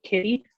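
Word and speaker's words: Kidde: someone had sent me a recall notice on kitty i think it is is how you pronounce it um it's a very popular brand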